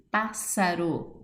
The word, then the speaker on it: Pássaro: Pássaro, 2 S's, acento no pá, sílaba tônica, pá, classificação, proparoxítona.